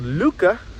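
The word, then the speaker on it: Lykke: Denmark and um he has a book called Luca is spelled l y k k e I got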